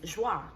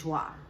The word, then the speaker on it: JWA: And the pronunciation of my name is Joie. So instead of me writing joy regular, how it's spelled, J-O-I, I just took the how I thought people would think it sounded like, if that makes sense. So J-W-A is Joie.